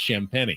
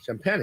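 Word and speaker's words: Champagnie: with an extra eye but it's pronounced champagne champagne all right that's right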